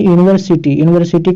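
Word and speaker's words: university: तो यहाँ पे देखिए यूनिवर्सिटी का प्रोनाउंसिएशन क्या होता है, यू से होता है। तो ये क्या है, कॉन्सोनेंट साउंड है।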